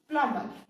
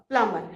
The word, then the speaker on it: plumber: PLUMBER, plumber. इसमें बेटा प्लम्बर में बी साइलेंट होता है ना, we pronounce it as plumber.